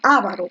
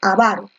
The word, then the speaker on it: avaro: cetil los correctores avaro la pronunciación para esta palabra es avaro con fuerza de voz / no sabemos muy bien porque generalmente muchos dicen avaro porque yo también decía avaro pero lo correcto es avaro fuerza de voz en